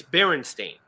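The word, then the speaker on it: Berenstain: Oh, she replies it's barren stain like coffee stain or what do you mean how do you pronounce it?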